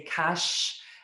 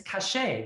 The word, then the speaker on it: Kache: just alerted me that i've been saying your last name wrong and oh i wish you would have corrected me i'm so sorry i say kash and it's cachet right yes that's okay you